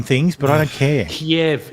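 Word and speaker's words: Kiev: yeah ke Kev yeah it's chicken Kev it's not chicken cave I don't give a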